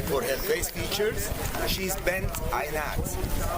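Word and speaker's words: Bintanath: For her face features, she's Bent Aynat. Bent Aynat, or you may pronounce her name Bentanta.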